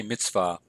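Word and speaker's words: מִצְוָה: would pronounce that Mitzvah some people pronounce that with a V sound some with a W so Mitzvah or Mitzvah I say Mitzvah note we have valve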